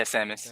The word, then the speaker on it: Samus: Seamus? Yeah, Samus.